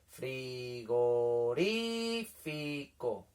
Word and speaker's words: frigorífico: Frigorífico. El que suena más fuerte es ri, ¿verdad? Pues esa sería la sílaba tónica, ¿vale?